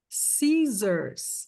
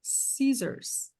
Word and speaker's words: scissors: Scissors. Aqui tem som de Z. Scissors.